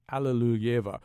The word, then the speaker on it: Alliluyeva: First of all, Rosemary Sullivan, am I saying that last name correctly? Am I pronouncing that? Give me some help here. Yes, you are absolutely correctly. That's as close as an English speaker can get to the Russian.